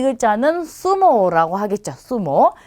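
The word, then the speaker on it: zumo: 그래서 이것도 여러분이 편한 발음 중에 하나로 골라서 해주시면 되고요. 자, 이게 글자를 한번 읽어보면 이 글자는 수모라고 하겠죠.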